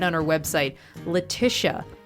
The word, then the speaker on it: Letitia: right on her website Letisha Tish rhymes with wish uh not assuming that